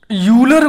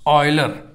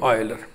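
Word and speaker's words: Euler: इस यूलर, कुछ लोग इसको पढ़ते हैं, आप यूलर नहीं पढ़ेंगे, इसका उच्चारण वही होगा जो अंग्रेजी के इस शब्द का होगा आयलर। तो इसको आप पढ़ेंगे आयलर।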